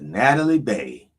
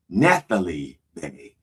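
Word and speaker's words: Nathalie Baye: Dear Lord, please bless Sister Natalie Bay. Sorry, Nathalie Bay. That's right, it's Nathalie. Yeah.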